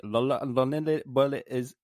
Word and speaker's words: Los Lonely Boys: I'd just like to correct you on the pronunciation of Los Lonely Boys. It's actually Lonely Boy is. What? I don't know, it just sounds Spanish, so I just wanted to do the rest.